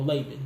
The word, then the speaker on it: Laban: Look, Laban or Laban. No, Laban. That's the correct pronunciation of my name.